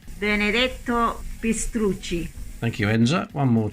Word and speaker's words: Benedetto Pistrucci: It was designed by Benedetto Petruzzi, I think that's how you pronounce it, but luckily one of my workmates is Italian, so I got her to say it. It sounds like this. Benedetto Pistrucci.